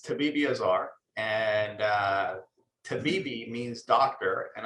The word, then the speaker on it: Tabibiazar: So I asked, as all good hosts would do, I asked for the proper pronunciation of the name Tabibiazar. And Dr. Tabibiazar, you told me. So it's correct. It's Tabibiazar, and Tabibi means doctor, and Azar means fire.